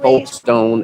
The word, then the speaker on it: Folkestone: It's It's not actually, Folkestone.